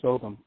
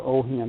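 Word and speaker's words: Ogham: thing they found out there was oam or Oham they pronounce it differently and that was found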